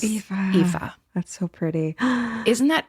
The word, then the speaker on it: Aoife: Lots of love, Aoife, which is spelled Aoife. So if Oh my God. you want to know how to pronounce that name, Aoife just explained it to all of us. Aoife.